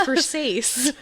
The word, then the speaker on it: Versace: Prada, other Versace, Versace, Versace, Versace. Look at that. Have you ever seen uh that show girls that she says that? Oh yeah, it's Versace.